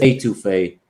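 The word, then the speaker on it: étouffée: It's etouffee. Most people pronounce it etouffee.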